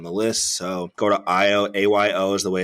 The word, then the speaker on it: Ayo: And there's plenty of people that I know, like Ayo, who've got this experience of helping people get through different issues that they've had.